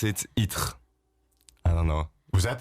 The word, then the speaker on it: Ittre: It's a really, you're never gonna be able to pronounce it. Itre. I don't know. Was that the name? Yeah, Itre.